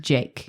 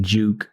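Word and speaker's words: JVKE: know what it is J JV k e it's the V is meant to be like an upside down a he was trying to creative but it's pronounced Jake I always thought it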